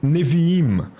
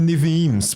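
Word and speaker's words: נביאים: E também nós temos, depois disso, da Torá, do Pentateuco, os profetas, o chamado grupo dos Neviim. Não é Neviims, porque Neviim já está no plural, ok?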